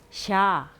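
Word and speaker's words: ཤ: 자, 그 다음에 요 발음은 좀 약간 길게 발음을 해주셔야 되는데요. 샤.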